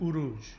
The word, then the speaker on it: uruz: And so the Germanic people pronounced it uruj. But the sound that you want is the ur sound, or the u sound.